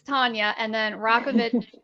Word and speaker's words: Tanya: it's tonya rockovich now your name is spelled t-a-n-y-a so it's not tanya it's tonya and then rock of